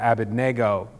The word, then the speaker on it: Abednego: Meshach; and to Azariah, Abednego. And this is where we get Shadrach, Meshach, and Abednego, or Abednego if you say it wrong like I did when I was a kid.